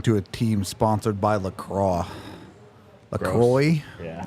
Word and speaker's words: LaCroix: Imagine losing to a team sponsored by LaCroix. LaCroix? Yeah. LaCroix, that's how they say it. It's wrong.